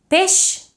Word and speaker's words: peix: Peix is pronounced with a sh, but peix espasa is pronounced with a j.